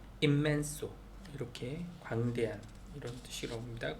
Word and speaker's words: inmenso: 그 다음에 immenso, inmenso인데 뒤에 둘 다 m이 n 뒤에 m이 와가지고 그냥 m 발음이 immenso, 이렇게 광대한 이런 뜻이라고 합니다.